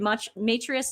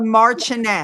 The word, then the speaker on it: Marchioness: She's got the am I saying this right? Matrius of Bath. I know I'm saying it wrong. Oh, are we saying that right, Marchioness.